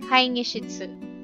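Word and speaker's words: 会議室: Kasi pagka yung G daw, in between ng parehong vowel, kai, E, diba yun? Tapos, kai, gi, E din. I mean, letter I, E sound, E, tapos E din. So, dapat daw ang pag-pronounce on, kai nishitsu.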